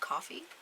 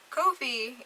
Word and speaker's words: Ko-fi: I recently learned that it's not pronounced coffee who knew they use a coffee cup for their logo so that just threw me for a whirl there but Kofi is the creator platform